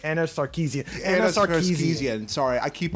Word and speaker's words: Sarkeesian: Was it Carcesian days? Anna. I can't even pronounce her name. Anna Sarkeesian.